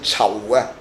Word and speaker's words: 仇: His surname is "Chau". 報仇的仇, 但仇字用於姓氏, 就讀 "籌" 音, 仇建明, In Chinese, "chau" means revenge. The pronunciation of "Chau" is quite similar to the word ""Charles".